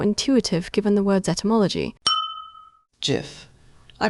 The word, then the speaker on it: GIF: I pronounce it GIF with a hard G sound.